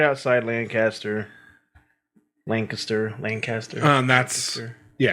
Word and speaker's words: Lancaster: Technically, you're supposed to say Lancaster, but I always go Lancaster. That's how I say it. Just Lancaster. I've heard people say Lancaster too.